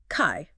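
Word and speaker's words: καί: Well, the most common is probably kai, primarily and, but sometimes even, or also, pronounce kai, just like our and.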